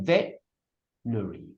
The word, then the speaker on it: veterinary: You could say veterinary. You could say veterinary. You could say veterinary. Veterinary. But no one would say veterinary. Because stress is on the front.